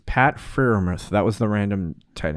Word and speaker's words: Freiermuth: It's Pat Freiermuth.